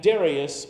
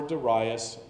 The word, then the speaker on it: Darius: Chaldeans was slain and Darius or Darius it's gonna be pronounced either way the Meade note this